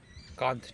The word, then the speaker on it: Kant: Kant definitely rhymes with Punt.